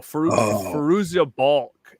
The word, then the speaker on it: Fairuza Balk: Oh, Fairuza Balk is how you say the name.